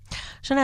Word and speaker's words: Chané: So they can find all the songs available on Spotify, Apple Music as Chané with an accent on the E.